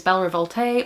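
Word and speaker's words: Belle Révolte: The last of my NetGalley books I hauled is Belle Revolte, or Belle Revolt. There's no accent on the end of that. Maybe I've been saying that wrong.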